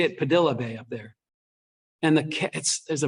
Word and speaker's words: Padilla Bay: there's a place called, it looks like if you were pronouncing it like a Spanish name, you would say Padilla Bay, but they say it Padilla Bay up there.